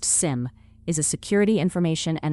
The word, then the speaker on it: SIEM: A CIEM, pronounced sim, is a security information and event management system.